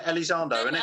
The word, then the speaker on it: Elizondo: Elizondo, Lou isn't it? Elizondo.